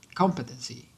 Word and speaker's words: competency: Tem gente que fala competency, né? Competency. Acaba colocando a sílaba tônica ali mais para o meio ou para o final. Mas na teoria, desculpa, a sílaba tônica seria a primeira, tá, gente?